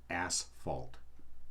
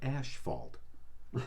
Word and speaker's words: asphalt: one not food related it's ass fault not ash fault stop saying asphalt it's asphalt all right your ass is